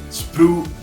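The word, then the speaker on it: sprue: variation in your arm also remember spru spru glue spru GL that's how you pronounce it is a thing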